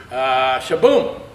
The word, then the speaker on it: Sh-Boom: Shaboom is, am I pronouncing it correctly?